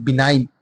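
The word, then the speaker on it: benign: एन य तो बिगिन बिनाइन जो जी है वो साइलेंट है बना दयालु बी ई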